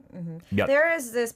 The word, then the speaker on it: 몇: So even though it ends with the last consonant chiot, we don't pronounce it as chiot, but we pronounce it as 몇.